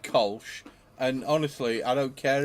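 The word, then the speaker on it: Kölsch: No, it's a cool ship, and it's pronounced Kolsch.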